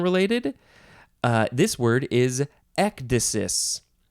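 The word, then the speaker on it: ecdysis: spelled with a c instead of a k ectasis is how you pronounce it in English at least uh this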